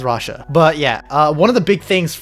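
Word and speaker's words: Rhajat: I know it's Rocher. I am pronouncing as Rasha, but yeah.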